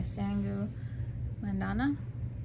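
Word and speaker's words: Sangu Mandanna: And I have Kiki Kalira Breaks a Kingdom by Sangu Mandana.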